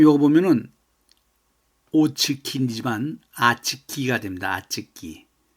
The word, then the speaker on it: очки: 아츠키 또 아구레츠입니다.이 아츠키는 안경이고 아구레츠 하면은 5인데 왜 5를 아로인 발음하느냐면은 엑센트가 없기 때문에 r로 해야 됩니다.